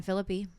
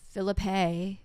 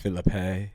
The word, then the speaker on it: Phillippe: Barry William Cox, played by Ryan Phillippe. Mm-hmm. Sorry, Philippe is the way he prefers it to be pronounced. Philippe.